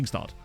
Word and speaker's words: Tingstad: Yeah, it's like, oh, so I am saying it correctly. Tingstad. Nice. I figured it was.